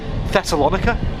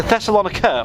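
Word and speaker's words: Thessaloniki: the end there's a thessalonica or thessalonica if you actually look at the spelling of it no i don't give you i i'm not i don't speak greek yeah i don't um but it's it's spelled t h e s s a l o n i k i because i heard that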